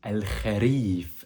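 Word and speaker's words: الخريف: En arabe, on dit al-kharif avec la lettre kha au milieu du mot.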